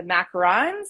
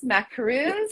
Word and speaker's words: macaron: i pronounce this yeah it's tricky because it's you know it's one vowel difference um but the macaroon is the one that's you know surrounded by coconut coconut whereas the macaron is you know the